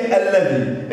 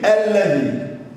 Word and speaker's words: الذي: طيب كلمه الذي، قال لي مفتوحه اهي، الا ونطق اللام مرتين، يعني معنى كده ان الكلمه فيها لام شمسيه زي السماء.